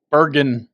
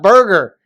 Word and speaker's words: Van Gisbergen: say his name or I think I've got Shane Van Ginsburg Gins Ginsburg Bergen it's not Burger you would think I